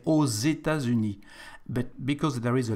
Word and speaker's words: aux États-Unis: For the States, because it's a plural, we add an X, and the X for the liaison here between the two words is like a Z, so we say aux États-Unis.